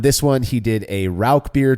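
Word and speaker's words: Rauchbier: So I always say Rauch beer, and that's how I kind of learned to pronounce it. And so, I mean, I'm sure somebody will email us and tell us we're wrong one way or another. So, but I go with Rauch beer.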